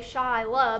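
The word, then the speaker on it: Shyla: hard to see um so everybody gets my name wrong it's s-h-y-l-a shy love but people call me sheila all the time i know i am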